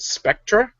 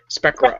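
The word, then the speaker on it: Sprecher: But interestingly enough, according to a rebuttal, because they're going after a brewery called Spectra, S-P-R-E-C-H. No, there's no T in it. Spectra, S-P-R-E-C-H-E-R.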